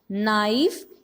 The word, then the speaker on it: knife: Not, knife, knee. And the silent letter in these words are K.